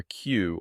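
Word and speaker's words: 九: lines song number four the common pronunciations are yon or she but yon is more common in modern Japanese yo and number five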